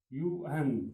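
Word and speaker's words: yuan: इसी तरह जो चाइना है, चाइना का क्या है युआन. इसको प्रोनाउंसिएशन चाइनीज में इस तरह है यूएन इसका प्रोनाउंसिएशन पढ़ा जाता है.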